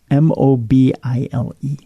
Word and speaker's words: Mobile: how do you pronounce m o b i l e I told you Mobile Alabama There's no there's no e in there it's it doesn't need to be I'm telling you it's Mobile Alabama I I have